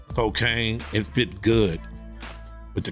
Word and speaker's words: Kokane: H love controversy right and um the name cocaine is the most controversial name ever in the